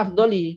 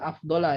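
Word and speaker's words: أفضلِ: Tapi bacanya afdoli tetap. Cuma mudhaf ilaihnya mahzuf. Ya. Dibaca jar, jangan dibaca afdola ya, karena dia bukan mudhaf ilaihi, tapi dia tetap dibaca jar.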